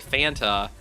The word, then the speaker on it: Fanta: same thing with Fanta it was like um it was wanta Fanta juanta Fanta and now it's like Fanta like Manta yeah it's it's awful